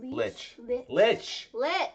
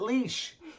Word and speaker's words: lich: Lich. Lich, Evie. Mother of God. Well, sometimes it's pronounced differently. No one ever pronounced it leash.